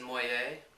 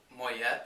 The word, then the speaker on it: Moyet: studio uh for allison moyet or moyet as people mispronounce her name i guess depending if where you're from who uh was the